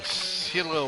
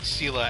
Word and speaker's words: Scylla: Scylla worm. I believe I'm pronouncing it. Scylla, as in Scylla and Charybdis.